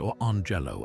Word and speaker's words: Orange Jello: clever twist that the names are pronounced or Angelo and Lemello.